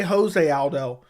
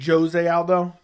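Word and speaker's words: José Aldo: not even top 15 Brazilian Portuguese pronounced Jose with a hard jay okay so I say Jose Aldo and it's supposed to be Jose Aldo I don't remember I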